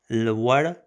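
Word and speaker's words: لوړ: Lwar with a v sound and r sound, so lwar, the l and w is pronounced together. Lwar, lwar, it's a r sound, yeah, it means huge, huge.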